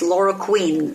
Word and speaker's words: chloroquine: I thought chloroquine, but I looked up the pronunciation. It's chloroquine, so it's a queen.